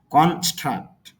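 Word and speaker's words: construct: দিতে হবে তাহলে এখানে আমরা একটু চাপ দিব কনস্ট্রাক্ট অর্থ হল নির্মাণ করা দ্বিতীয় যে শব্দটা কন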